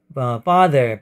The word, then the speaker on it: farther: 먼 형용사에 비교급이 두 개 있는데 father 발음은 뭐 아버지라는 father하고 발음이 똑같고 거의 똑같습니다.